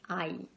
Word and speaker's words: ail: And the letter A in French is always pronounced ah. A big, wide mouth, wide open mouth, ah. So you have aïe, aïe. It's the same exactly as garlic, the word for garlic. It's aïe, exactly the same.